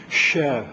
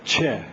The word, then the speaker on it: Chebyshev: Russian is Cyrillic alphabet, and in French, if you wrote it this way, it would be pronounced che instead of che. And so they put a T in front.